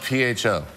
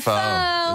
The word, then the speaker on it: pho: It's spelled P-H-O. Oh, pho? Pho. Pho? Pho. But no, because there's a noodle shop in Beverly Hills called Beverly Hills 9021 Pho.